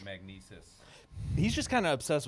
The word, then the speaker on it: Magnises: And it was spelled MAGNISES, which is like the opposite of how you would think it's spelled. So it looked like magnizes, but it was magnesis.